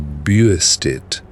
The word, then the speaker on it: Bastet: When Allen reaches back toward the oldest pronunciation, he does not arrive at Bastet at all, but at something closer to Buistit, a shape strange to our ears, full of a soft catch in the throat that the later language let fall away.